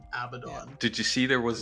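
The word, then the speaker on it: Abaddon: and that uh Games Workshop has clarified it is abdon did you see there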